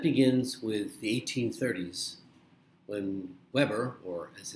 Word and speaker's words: Weber: And that begins with the 1830s when Weber, or as it's sometimes pronounced, Weber, discovered a basic law that translates your perceptions of something like weight from the physical stimulus.